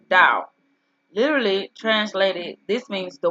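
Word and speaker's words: Tao: that right who's called the title pronounced dao literally translated this means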